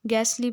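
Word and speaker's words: ghastly: आवाज है ठीक है गैसली पढ़ेंगे इसमें टी साइलेंट है ठीक है ूस्ट कफ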